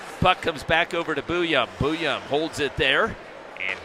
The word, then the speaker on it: Booyum: And he's just like, Booyum. Booyum.